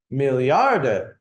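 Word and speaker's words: Milliarde: numbers in German right million is a million that's the same but AA Millard is how you say a billion and I think they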